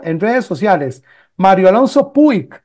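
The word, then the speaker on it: Puig: redes sociales Mario Alonso puik el apellido se pone puik p u i G puik digamos que que la pronunciación es pus pero se pone Mario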